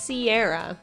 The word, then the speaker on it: Sierra: Oh yeah, it's pronounced Sierra, like the mist or the mountains.